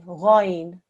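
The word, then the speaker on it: غين: Ghain. Going. Okay, well done. In English, when it's written out, it does have a G-H-A-Y-N. So you may be forgiven for thinking it's a g, okay? But it's ghain.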